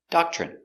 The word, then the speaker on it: doctrine: Pronunciation doctrine. D. A da c- dock chock ch remember when you have tr together it makes the chicken sound ch.